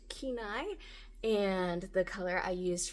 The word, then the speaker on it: Kenai: I have since learned that this color is pronounced Kenai, and the color I used for the drawstring is called Marsala, like curry marsala or tikka marsala.